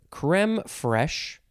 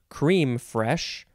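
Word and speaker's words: crème fraîche: liqueur hey yeah yeah the word is creme fresh or cream fresh or cream fresh same first word second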